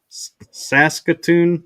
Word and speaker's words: Saskatoon: In Saskatoon. Is that how you pronounce it?